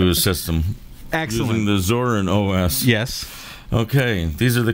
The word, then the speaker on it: Zorin OS: I was able to add a second hard drive to my Zorinos system. How would you pronounce that? Zorin OS.